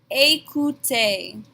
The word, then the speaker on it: écoutez: Here we have both of our phonetics rules with that E accent aigu and the easy letter combination. They make the exact same A sound at the beginning and the end of this word.